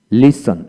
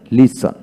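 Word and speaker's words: listen: দূর হয়ে যাবে তারপরে ওয়ার্ডের মধ্যে এস টি বা এস টি এল থাকলে এক্ষেত্রে টি এর উচ্চারণ বিশেষ করে হয় না লক্ষ্য করেন এখানে লিসেন লিসেন লিসেনার লিসেনার হ্যাশন হ্যাশন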